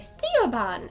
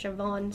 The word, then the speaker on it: Siobhan: you'd pronounced Siobhan because people look at Siobhan and think it you say steel bond and it's pronounced Siobhan so if you know